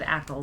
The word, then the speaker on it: Ackie: I said Ale, but I think it is Aki.